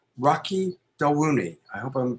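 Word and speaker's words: Rocky Dawuni: go to his primary website it's his name rocky del rooney i hope i'm pronouncing that correctly yes yes yes so it's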